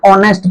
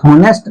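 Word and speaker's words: honest: को बेटा याद रखना हम पढ़ते कैसे हैं ऑनेस्ट पढ़ते हैं इसे नेस्ट कभी नहीं पढ़ना है तो अब इसको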